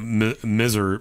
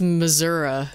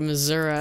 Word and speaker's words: Missouri: Misery? It's Missouri. They say it like Missouri.